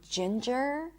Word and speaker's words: ginger: Sometimes you will see NG in the spelling, but it's not going to be pronounced as an NG at all. And it's usually when there is a silent E at the end, like in the word challenge or danger or ginger.